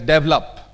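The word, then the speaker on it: develop: in India speak it एस डेवलप डेवलप दस इ the first syllable if यू से डेवलप someone वड understand it एज I mean in Europe it वड be understood S double up hello day तो है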